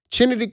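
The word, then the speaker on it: Chennedy: skot chined that's how you say her name chined Carter the one who you know hip check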